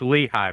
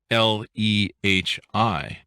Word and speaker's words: Lehi: lehigh as well and it's pronounced l-e-h-i but clearly i know